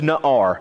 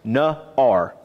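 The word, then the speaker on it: נער: there's a Hebrew word and the word is not our that's how it's pronounced no our it is translated in your Bible as little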